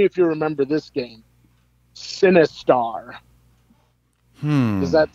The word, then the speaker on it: Sinistar: you remember this game sinistar does that sound familiar to you no how do you spell it s-i-n-i-s-t-a-r like sinister but with a star oh wow i am